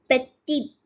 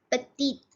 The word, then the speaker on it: petit: The last consonant in a word is not pronounced. So it's short. It's short. Petite. So we may pronounce it as petite, but it is petit.